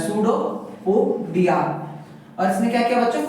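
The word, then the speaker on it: pseudopodia: जाता है should पोडिया इसमें जो बच्चों पी वर्ड होता है साइलेंट होता है सूडो पोडिया और इसने क्या किया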